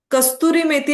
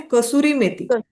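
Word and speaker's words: कसूरी मेथी: कस्तुरी मेथी कस्तुरी मेथी अस त्याच प्रोनन्सशन नाहीये तर त्याच प्रोन्शन आहे कस्तुरी मेथी कस्तुरी कस्तुरी मेथी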